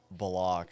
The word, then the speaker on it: Bullock: That's how he says to say his name, Kalen Bullock.